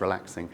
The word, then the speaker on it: RELAX NG: There was a rival kind of alternative standard called relaxing that was standardized by Oasis, Relax NG, but it's pronounced relaxing.